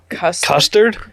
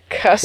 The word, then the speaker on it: Custer: Custard? Custer. Without a D. Custer.